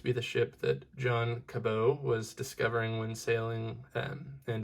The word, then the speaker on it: Cabot: I'm not even sure that I said his last name right, but I believe Cabot is how you say it.